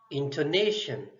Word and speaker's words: intonation: So see how I'm pronouncing these two words. Pronunciation, intonation. So see, there is rise and fall of a sound. So stress is on intonation, on na sound.